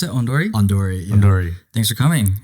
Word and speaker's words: Ondori: How's Founder of, how do you pronounce it? Ondori? Ondori.